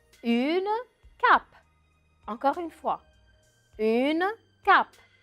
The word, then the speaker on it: cape: ma bouffe aux voeux à la fin du mot je ne prononce pas le e à la fin du mot une cape encore une fois une